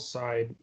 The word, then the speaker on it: Darkseid: It is, but it's called Side, even though it's spelled Darkseid.